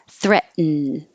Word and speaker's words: threaten: and sometimes yup threaten this is a syllabic in meaning the in becomes its own syllable so when your tongue goes up for the T threat you are already in the right position for the in so then you just make the end noise threaten threaten and the